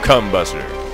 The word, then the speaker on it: combuster: leave home without your combuster oh God you really do have to stress that second syllable that's that's just all